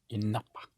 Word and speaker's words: il n'a pas: Il n'a pas. Il n'a pas. Il n'a pas. Like the Napa Valley.